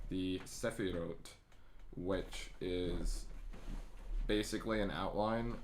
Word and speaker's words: Sephirot: It's pronounced Sephirot, though.